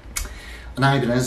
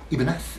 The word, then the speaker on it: Ibanez: I've got an Ibanez, or Ibanez, if you prefer, which is, of course, the... Correct pronunciation, Ibanez, from Salvador Ibanez, 18-something to about